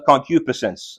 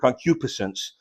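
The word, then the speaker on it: concupiscence: me all manner of concupisence. That's that's how that word is pronounced. A difficult word, concupisence.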